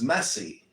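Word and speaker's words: مسيح: You know what Messiah means in Islam is messy. That's how you say it in Arabic, is messy.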